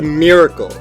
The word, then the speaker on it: miracle: Most Americans pronounce the first vowel in miracle so it sounds like knit. What? Miracle. However, people in the Northeast region tend to pronounce it so it sounds more like near.